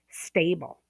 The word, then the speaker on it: stable: So, with the word stable, the first syllable is stressed for the adjective stable.